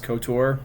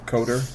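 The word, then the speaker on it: KOTOR: of the Old Republic, otherwise known as Cotor or Coder, depending on how you pronounce it.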